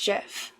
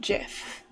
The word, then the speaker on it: GIF: it's important to the lady Teddy Channel it's Jeff that's that's how the person who invented gifs pronounces it g does stand for graphics so